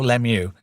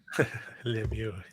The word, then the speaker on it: Lemieux: Yeah, that was I obviously I pronounce it wrong cuz I'm English. Mario Lemieux. Lemieux.